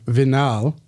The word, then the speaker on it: Vinall: Oh, yes, it is pronounced vinyl, but I don't care. Instead of Vinall, which I like.